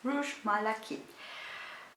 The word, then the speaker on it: Rouge Malachite: most unique fragrances and it's rouge malachite or malachite yeah i don't know how to pronounce it pronounce it but i think it's rouge malakit from armani it's a